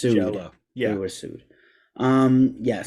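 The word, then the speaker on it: Jellÿ: It's spelled jelly, but pronounced Jello.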